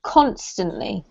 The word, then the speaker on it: constantly: couple of words carlos this one here has the emphasis on the first syllable so it's constantly constantly yeah that's right and this